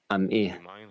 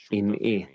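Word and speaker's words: עִמִּי: Do not pronounce, you are my people, am'i, with a patach in the ayin, but you are with me, im'i, with a chirik in the ayin, which means partnering with me.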